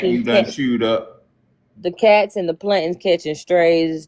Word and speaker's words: khat: I thought it was called Cot. Khat. How you say it? Cot? Who Hey, I'm a cares? country boy. It's cat. Yeah, Okay, me that too. sounds like cat.